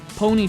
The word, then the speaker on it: Pwnee: Pwnee spelled like, oh hey, I just pwned you.